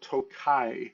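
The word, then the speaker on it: Tokaji: And the first thing we are going to talk about is a wine that is called Tokai. That is spelled T O K A J I.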